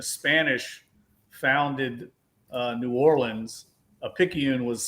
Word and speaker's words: Picayune: I'm having a really, really bad night with pronunciation. But you're Picayune. very welcome. Picayune. Oh, okay. Picayune.